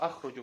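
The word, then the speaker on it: أخرج: Просто запомните, что ахруджу, правильно говорить ахруджу.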